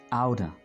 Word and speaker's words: out of: आउट ऑफ को आप pronounce करते हैं आउटर.